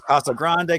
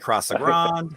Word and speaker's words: Casa Grande: heard various ways, and I think they're all acceptable, whether it's Casa Grande, Casa Grande.